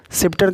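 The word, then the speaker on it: sceptre: seizures के बाद सीन है सीन में सी साइलेंट है इसका मतलब होता है दृश्य उसके बाद है सेप्टर सिप्टर का मतलब होता है राजदंड ठीक है राजदंड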